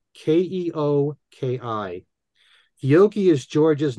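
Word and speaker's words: Keoki: that's a tribute to George Harrison called oh kyoki that's spelled k-e-o-k-i Oki is George's name in Hawaiian this can be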